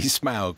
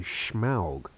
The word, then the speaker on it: Smaug: ago and he said he said no no definitely smow so definitely SM although sometimes Peter Jackson he he puts a little sh in there for some reason he calls him schow he goes all kind